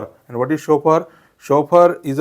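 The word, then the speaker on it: chauffeur: एफ इ यु आर याचा correct उच्चार होतो या शब्दाचा करेक्ट उच्चार होतो शोफर शोफर and what is शोफर शोफर इज a person employed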